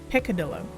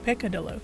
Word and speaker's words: peccadillo: Picadillo. Is that how you say it? Or peccadillo? Something very small on it. It's the first time I've ever seen that word. Oh, peccadillo. So I kind of said it right.